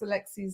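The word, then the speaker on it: Aleksi: oh yeah od sorry at least kaz pronounced alexi's name right this time he remembers it because alexi rhymes are sexy definitely yes the sausage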